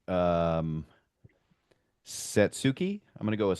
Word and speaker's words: Satsuki: Oh man, would I like to try and pronounce this name right. Um, Satsuki. I'm gonna go with Satsuki.